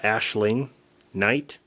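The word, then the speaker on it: Aisling Knight: Uh the main actress here, um it's pronounced uh Ashling Knight.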